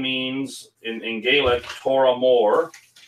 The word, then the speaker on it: Tormore: The name means in Gaelic, Toramore is probably how we're supposed to pronounce it. Toramore, meaning big hill.